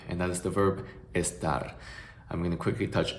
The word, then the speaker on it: estar: The only thing that I would encourage you to look out for is the pronunciation of the Spanish letter E, because a common mistake that I see a lot of English speakers make is to pronounce this E sound as the schwa sound in English words like about, around, above, and they would pronounce it like estar, which might sound alright for